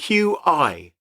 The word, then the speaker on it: Qi: I think it's pronounced Chi yes Qi not as in the television quiz show hosted by Sandy tox